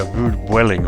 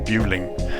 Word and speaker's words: Vueling: It's also used as a seasonal base for the Spanish carrier Vueling or Vueling, depending on how you say it.